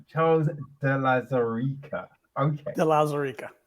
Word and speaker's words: de Lauzirika: la zarika da chose de la sarica okay delazarica correct it's a very unique name so some